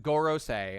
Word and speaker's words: Goro: so they've been the Goro all right it's pronounced Goro all right let's pull it up chapter one